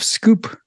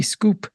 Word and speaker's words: Schoep: of speaking with Jeff scoop uh I've said that right right and it's one of those names that s-c-h-o-e-p scoop um not like it's spelled but uh so thank